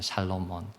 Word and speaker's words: 솔로몬: 여러분, 그런데요, 이 솔로몬의 이름을 우리가 보다 잘 발음하려면 솔로몬이 아니고 샬로몬입니다. 샬롬몬이에요. 샬롬몬.